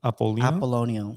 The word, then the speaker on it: Apollonio: Apollonio. Apollonio. Like So apple and onion.